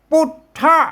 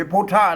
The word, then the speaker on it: ปุทธะ: อันเนี่ย ปุท นะ ครับ อ่าน ตัว ปะ ก็ อ่าน เป็น ปุ ไม่ ใช่ พุทธ นะ ครับ ไม่ ใช่ พุทธะ นะ ครับ ม อ่า ท่าน ต้อง อ่าน ว่า เป็น ปุ๊ นะ ครับ เห็น มั้ แหง